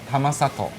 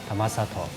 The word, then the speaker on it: Tamasato: 覺，所以玉里的發音叫 Tamasato。 Tamasato，花蓮的花蓮叫卡蓮，比較好記哦。